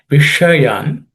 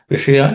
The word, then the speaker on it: विषयान्: Vishayan, the sh in the Vishayan is a cerebral sh, so the tip of the tongue should point towards the roof of the mouth. Vishayan pumsaha.